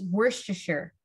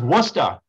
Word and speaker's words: Worcestershire: But I got it's Worcestershire. Right? No. No, Gary. Wait, how is it pronounced then? Oh my! It's pronounced Worcester.